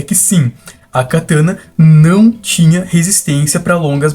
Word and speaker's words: katana: A pronúncia dessa palavra, que seria a palavra japonesa, realmente é cataná. Enquanto a pronúncia da palavra katana é katana, sendo essa novamente, uma palavra de origem portuguesa que é semelhante a uma tradução da palavra.